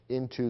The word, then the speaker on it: n't: And in between, we have the adverb not, which has been contracted to n''t, pronounced int.